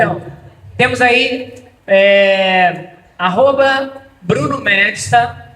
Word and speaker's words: Medsta: Então, temos aí arroba Bruno Medsta, MEDSTA, o D é mudo, arroba Bruno Medsta, tá?